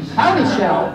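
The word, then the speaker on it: Houdyshel: He had a nursery, and his nursery list came with a heading, and it showed a hand shaking a shell, so that you would know how to pronounce his name. Howdy Shell!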